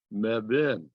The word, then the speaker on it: Mebane: meb uh whose name is mebane but pronounced mebin well i got that